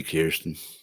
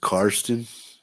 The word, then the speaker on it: Karsten: Hey, Kirsten. How you doing, buddy? It's pronounced Karsten. Is it Kirsten or Karsten?